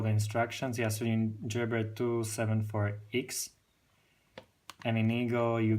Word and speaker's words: Gerber: I know how to spell it. It's GERBER, and it's gerber.